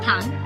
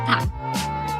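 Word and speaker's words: 방: At the end, it sounds like ng, as in song, like in the word pang, meaning room. Practice, pang.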